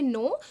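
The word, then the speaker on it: know: उसके बाद यहां देखिए नो तो जो नो में जो के है वो भी हमारा एक साइलेंट लेटर है।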